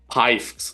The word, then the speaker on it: Pifgx: I'm used to known as I wrote it in the chat now, Pifgs. It's spelled Pifgx.